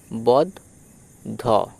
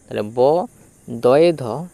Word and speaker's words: বদ্ধ: ব এর সাথে দ উচ্চারিত করো। বদ বদ ধ। ব দধ।